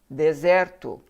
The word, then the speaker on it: desert: s e r t dessert now desert is deserto d e s e r t so so